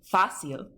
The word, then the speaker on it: fácil: So for example, if you're pronouncing these, you have fácil, where you have the spoken accent on the A, and therefore you need a written accent.